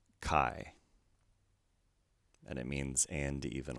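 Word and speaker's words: καί: actually matches our word this is pronounced i as an isle again we have an acute accent with a single syllable word so let's pronounce this word kai and it means and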